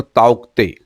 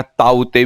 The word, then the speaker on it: Tauktae: ऐसे अगर प्रोनाउंसिएशन करते हैं तो ताउक्ते या ताउते भी बोलते हैं, जिसमें के साइलेंस है।